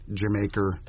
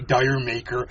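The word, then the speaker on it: D'yer Mak'er: still people who just can't get uh jamaer right I love to do my Robert Plant well all the F all you Americans say dire maker mhm I remember we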